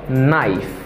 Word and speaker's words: knife: Okay, this is a knife, knife. Okay, ça veut dire, nan mot sa yo la, pou apre make, let sa yo mem, yo pa prononce.